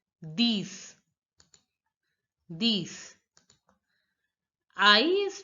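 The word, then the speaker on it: dix: again enough again Nerf ten is pronounced as these in French these these these I is pronounced as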